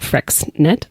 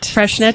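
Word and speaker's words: Freixenet: sparkling wine champagne I always thought that was pronounced like fnet I could never pronounce it freshnet freshnet is how you say it so if you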